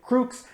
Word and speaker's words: Crux: so first thing first crux i'm saying that because i assume that's how most people would pronounce it crooks is really the correct pronunciation of the word so i might use